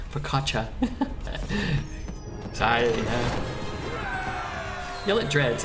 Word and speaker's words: focaccia: The only things Twitch chat gets more mad about than Miss Lethal are the pronunciation of Fakasha, Focaccia.